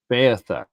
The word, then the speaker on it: Beothuk: and the Mi'kmaq and the how do you pronounce it? The Beothuk? Beothuk.